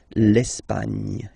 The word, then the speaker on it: Espagne: Okay, don't insist on the final E because basically it's not pronounced. L'Espagne.